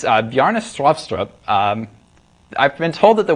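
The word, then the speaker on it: Bjarne Stroustrup: pronounce his name it's yarnís lobster up I've been told that the way to pronounce this is to say strew syrup with a Norwegian accent while cramming a potato down your throat I'll just get it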